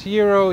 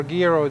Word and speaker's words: gyro: basically a year wrap it's pronounced hero hero or guo depending on what region uh so this is